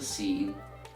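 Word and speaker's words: سين: So in short, I want you to practice how to pronounce the letter Seen, Seen, Seen, and the letter Sod, Sod, Sod.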